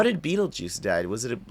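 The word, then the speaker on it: Betelgeuse: e yeah it's a different spelling but it's pronounced Beetle Juice and so is his gravestone it's pronounced it's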